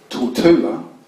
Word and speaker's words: Tortola: there is only taught in the house so till Tula is the house of a named after the